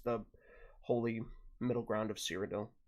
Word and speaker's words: Cyrodiil: Kings, which is the holy middle ground of Cyrodiil. Like okay, that. gotcha. There's no, like, actual Cyrodiil hasn't been formed yet. wiki Yeah. of Seed of Sundergated. The heart of Cyrodiil. Cyrodiil, however, Cyrodiil. It's Cyrodiil.